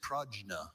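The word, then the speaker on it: prajna: Are there any alternate pronunciations for the word only? Pragna.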